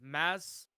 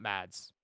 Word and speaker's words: Mads: __ ] I'm sorry it's it's mass Mickelson that's how you actually pronounce it mass not Mads okay I feel like